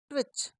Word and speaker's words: twitch: Next TWINKLE, twinkle, TWIG, ट्विग, TWITTER, ट्विटर, TWITCH, इसमें भी दोस्तों टी साइलेंट है, ट्विच, TWIRL, ट्वर्ल।